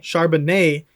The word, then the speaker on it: Charbonnet: Charbonnet.